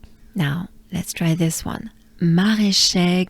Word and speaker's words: Maraîcher: Maraîcher goes like this. Ma, ré. Remember, it's e, not e. Ma, ré. So there's the French R. Ré. Inhale and exhale with your tongue put, not moving, but down below in your mouth. Ré. Ma, ré, che. So many French sounds. Typical. Maraîcher. Encore. Maraîcher.